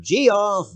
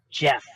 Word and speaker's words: Geoff: uh hey guy um that's not how my name is pronounced you know that right it's g off no it's pronounced Jeff Jeff no I've got